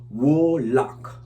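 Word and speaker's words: Woolock: interestingly, I should say, WOOL, like wool, OCK, wool lock, blessing, like a wool lock, yeah.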